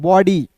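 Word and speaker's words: body: बी का ब ओ आता है ना किसी भी वर्ड्स के बीच में तो उसका उच्चारण औ के रूप में डी का ड अंतिम में वाई आया तो इसका उच्चारण ई के रूप में बॉडी द लायन क्या हो जाएगा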